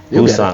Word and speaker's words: Bussant: Just imagine that there's 2 O's after the B. Bussant. That's why my logo looks like the way that it does. It's for the phonetics. I think that's how you say it. Yeah. Bussant. I mean, And the B is backwards, right?